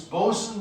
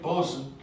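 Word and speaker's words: boatswain: and a boson uh you can ask me why we pronounce this bosun but i can't tell you the answer because i don't know um but that's the way they say it boson um so here we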